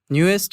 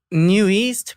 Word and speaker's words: NU'EST: I'm from the group Newest or New East, however you guys pronounce it. And How do you pronounce it? I pronounce it New East, All but right, then that's what it is.